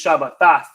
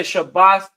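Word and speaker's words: שבת: this pops up because they may pronounce this Shabbat. But I say Shabbath mainly because we understand the root word to be Shabbath.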